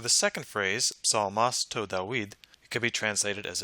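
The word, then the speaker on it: Δαυίδ: find in ancient papyri, it's likely that the alpha upsilon diphthong was pronounced with a final V sound when it precedes a voiced syllable as it does here. So most likely this word would be pronounced David.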